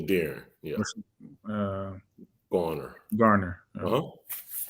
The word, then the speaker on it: Darron: And Darron, right? Am I saying it right? Yeah, Darron.